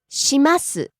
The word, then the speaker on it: します: うちうち Next we have します polite, non-pass form of the verb suru, meaning to do.